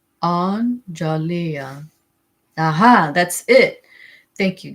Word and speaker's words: Anjalia: It is pronounced analia."